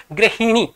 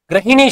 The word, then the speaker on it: गृहिणी: वाले शब्द है गृहिणी गृहिणी शब्द है गृहिणी याद रखिए आप लोग गृहिणी उच्चारण कीजिए बारबार शुद्ध रूप से गृहिणी शुद्ध रूप होगा और अगर आपको परीक्षा इस प्रकार ग्रहणी शब्द मिले ग्रहणी यह शब्द गलत माना जाएगा क्योंकि हम कई बार